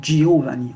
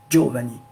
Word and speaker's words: Giovanni: solide j'ai par exemple ici paraît donc le il ne se prononcent pas on va dire ici on n'a pas lire giovanni on va venir geovanni donc jo jo duo